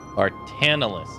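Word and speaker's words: Barthandelus: Bartandalus is how you pronounce it.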